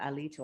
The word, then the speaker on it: Alito: Alito, I believe is how Alito. you pronounce Alito.